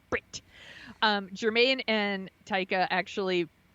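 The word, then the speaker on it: Bret: includes Brit McKenzie Brit Brit you have to say it like that Brit um Germaine and taica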